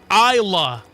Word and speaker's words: Islay: Islay sounds like Isa.